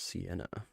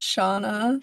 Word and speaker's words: Shauna: This is Sienna. The noises below. It's pronounced Shauna. Shauna? Said Sienna. Oh, it Mhm. is Shauna because it's Sean and Shauna.